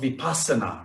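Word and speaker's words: vipassanā: is called the basiana i'm sure you've heard of vipassana right the sanskrit pronunciation is vipasyana that's like scottish english and london english so the buddha spoke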